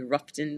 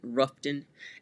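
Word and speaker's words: Rutherfordton: half from Charlotte in ruon um y'all should be proud of me ruon North Carolina even though it's spelled rutherton ruon as they say North Carolina and that's about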